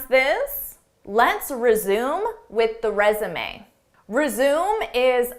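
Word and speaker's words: résumé: Notice how the end is pronounced, resume. This isn't typical English pronunciation because this word is borrowed from French pronunciation, resume.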